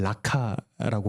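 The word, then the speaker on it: Raca: 라가는 라카라고 발음을 하는데 빈 사람, 조금 더 적나라하게 표현하자면 골이 빈 사람이라는 표현입니다.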